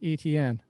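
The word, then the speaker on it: Etienne: pronounce travis's last name i always thought it was in like you know the french steven no it's e t like e letter t letter n like etn i mean the guy's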